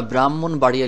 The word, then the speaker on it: ব্রাহ্মণবাড়িয়া: হলো ম আছে আছে কিন্তু এটা এমন একটি যুক্তবর্ণ বা এমন একটি যুক্তাক্ষর যেটা এই হ অক্ষর উচ্চারণ করা যাবে না যেমন আমরা ব্রাহ্মণবাড়িয়া লিখি ব্রাহ্মণবাড়িয়া কিন্তু মজার